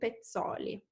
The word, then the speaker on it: Pezzoli: And as we proceed upstairs, someone is asking for the pronunciation of Pezzoli. So it's Gian Giacomo Poldi Pezzoli.